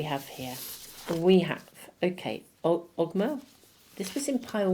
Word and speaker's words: Ogma: We have, okay, Ogma. This was in pile 1. I think it's pronounced Oma, actually. But anyway, what's your words?